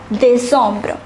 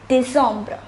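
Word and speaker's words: décembre: pronounced as nuambra and december is pronounced as de sombra once again september is september october is october november is nuam and december is dissombra so from the beginning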